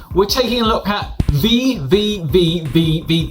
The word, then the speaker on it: VVVVVV: My name's from Games Room, and today we're taking a look at Vvvvvv. I think that's correct, or that's how you say it anyway. Yeah, that's right.